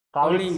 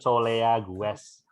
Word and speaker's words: colleagues: Colleagues ini bacanya. Colleagues. Tulisannya banyak tapi bacanya cuma dikit. Colleagues. Ya, itu bahasa Inggris. Harusnya kan colea gues. Baca colleagues.